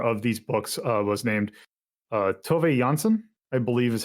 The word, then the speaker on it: Tove Jansson: Yeah, so just also to mention, the author of these books was named Tove Jansson, I believe is how you would pronounce it.